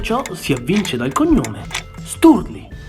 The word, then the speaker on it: Sturli: si avvince dal cognome, Sturli. Quando lo si pronuncia, tra la R e la L, la lingua si arrotola e si srotola proprio come fa il tappeto rosso al passaggio di Sua Maestà.